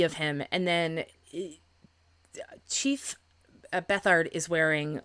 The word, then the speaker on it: Bethard: I apologize if I'm mispronouncing that. I looked and I found I believe a country singer whose last name is Bethard, and it's spelled beat hard. So I was afraid of mispronouncing that, so I looked it up, and I did find, like I said, a singer whose last name is Bethard, and that's how he pronounces it. So I'm going to go with that.